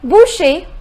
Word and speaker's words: Boucher: I say butcher Boucher the pronunciation is Boucher the next rule which